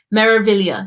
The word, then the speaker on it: Meraviglia: Meraviglia. You just ignore the G.